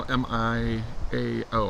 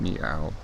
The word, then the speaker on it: Miao: We have had a arrest of General Miao, M-I-A-O, I think that's pronounced Miao.